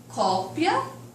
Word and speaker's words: cópia: Apesar de eu ter aqui o acento gráfico, não é isso? Que vai diferenciar a pronúncia, mas as letras das palavras são iguais.